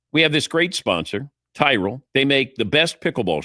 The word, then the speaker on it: Tyrol: It's Tyrell Pickleball Shoes. You spell it Tyrol. Tyrell Pickleball Shoes, the best pickleball shoes, purpose-built for pickleball.